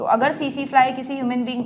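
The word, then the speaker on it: tsetse fly: तो अगर सीसी फ्लाई किसी ह्यूमन बीइंग को काट ले, बाइट कर ले, सीसी फ्लाई में टी साइलेंट होता है, तो ये ट्रिपैनोसोमा को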